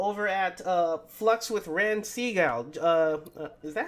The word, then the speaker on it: Segall: Uh, you might have seen his YouTube channel over at Flux with Ran Segall.